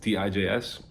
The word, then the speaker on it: Tijs: turntable killer and my real name is thais which is very hard to pronounce for people around the world tijs so i had to